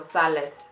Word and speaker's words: sales: Sales, and the S at the end you pronounce it.